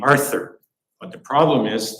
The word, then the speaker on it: Arthur: gave me the name Arthur but the problem is the Dutch does not have the th sound so my parents could never pronounce my name uh my mother still